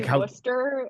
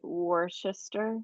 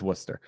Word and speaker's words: Worcester: Like you say Worcester instead of like worister. It's Worcester.